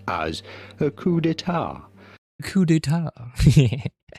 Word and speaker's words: coup d'état: The P to coup is silent, so is the T to état. Un coup d'état, but in English it is usually pronounced as a coup d'état.